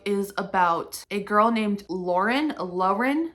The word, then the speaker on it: Lauren: about a girl named Lauren Lauren I'm going to say Lauren because in the book she says it's pronounced luren I don't know I